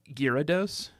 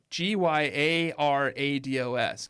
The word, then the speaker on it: Gyarados: season what is that its name isn't girados it's gados yeah but I don't think you pronounce that a it's garados g y a r a d o s Gyarados Gyarados but I don't